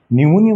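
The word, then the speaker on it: pneumonia: tsunami বানানে টি tsunami নিউমোনিয়া বানানে কিন্তু পি নিউমোনিয়া হ্যাঁ নিউমোনিয়া বানানে কিন্তু পি এক্সট্রা ওকে সাইকোলজি বানানটা মনে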